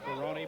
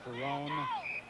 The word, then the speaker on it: Ferron: 47 yd line also Dan Ferron who pronounces his name Ferron but many people call him Fon with the ball at the